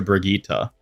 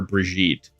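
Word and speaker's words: Brigitte: in Overwatch and then they retconed the pronunciation of her name to Brigittita and like changed Reinhardt's voice line either by removing it or re-recording it to pronounced it properly. But I'm pretty sure there was a time where Reinhardt called her Breijgit instead of Brigittita.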